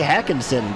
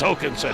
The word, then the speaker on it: Håkansson: I would say it's Håkansson. I would almost say Hackinson, but or Hawkinson, but the coach said everyone gets that one wrong. It's Håkansson.